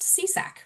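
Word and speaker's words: CSAC: So our our acronym is pronounced SEESAC which you're going to hear probably throughout the rest of the hour today.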